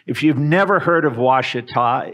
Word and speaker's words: Ouachita: If you've never heard of Ouachita, it looks on a piece of paper like it should be pronounced Ouachita, but it's Ouachita.